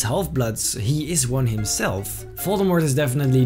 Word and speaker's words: Voldemort: Rowling announced on her Twitter that the T in Voldemort is silent, but assures fans that she's the only one who pronounces it that way.